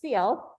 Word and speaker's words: Sealth: So if you said self all these years, it is pronounced Sealth.